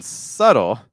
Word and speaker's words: subtle: talked about subtle question so in subtle there's no B but in the word subtitle there is a slight B sound sub subtitle subtitle yes so it's subtitle keep the be great question manual I'm